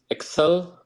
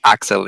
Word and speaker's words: Axel: Follow my co-host Excel. I don't know if I'm pronouncing this time right or not. It's fine. It's fine. You pronounced it right. It was just me. It's Axel. Yeah, it's fine. Axel.